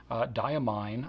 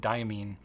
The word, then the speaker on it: Diamine: For example, diamine, I believe is how you pronounce that. That's how they say it in the UK. I said diamine for a very, very, very long time.